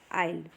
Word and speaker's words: Isle: Okay, and it is pronounced as Isle.